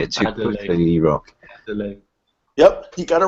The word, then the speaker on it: Adeloye: I can never pronounce it right. You say it too quickly, E-Rock. Adeloye.